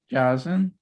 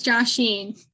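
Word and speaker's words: Jashin: Jazin, Ja- Mm-mm. Josh, Joshin. Joshi. Oh, it's like Joshin. Joshin. It's Joshin.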